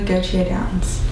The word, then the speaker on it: Gautier-Downes: of installation artist Julie go to a dance now pronounce that right close could you say it in your French Julie KJ dance perfect and you're also